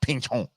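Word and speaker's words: Pinchot: And if Greg here, because I think that's French. Pinchon. That's how you say it.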